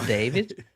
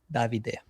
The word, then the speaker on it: Davide: So it's not David. It's not Dave. is fine. It's not David. But yeah, the stress is on the A and then goes till the last E. Davide.